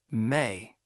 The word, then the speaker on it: me: The Sumerians conceived that the gods had established a fundamental cosmic principle called Me, pronounced May.